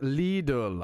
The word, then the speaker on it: Lidl: However, in English, it is generally simply said as little or Okay, that sounded the exact same. It's pronounced little or little.